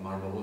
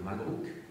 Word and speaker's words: Marlborough: Vous savez que les Français prononcent très mal l'anglais, donc Marlborough, ça va devenir Malbrook.